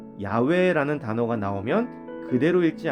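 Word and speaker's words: 야훼: 모음 없이 4개의 자음 으로만 이루어져 있습니다 그 발음은 야외 외 모든 야외 입니다 하지만 고대의 히브리인들은 여호와의 이름을 망령되게 무르지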